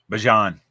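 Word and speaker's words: Bijan: Bjon.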